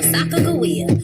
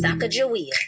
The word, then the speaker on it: Sacagawea: It's your girl Sacagawea, or is it Sacagawea? Either way, we gon' pronounce it with a hard G.